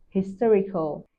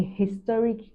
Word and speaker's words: historic: style for example historic historical in American English a historic event the Hedge is pronounced while in British English and historic events now notice H is softer or silent and historic and historic